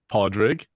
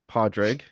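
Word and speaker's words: Pádraig: Padreg. Podreg. Podreg.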